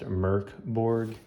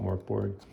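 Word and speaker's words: Mörk Borg: I guess technically it's pronounced Merkborg, but I don't know. I hear a lot of people call it Morkborg.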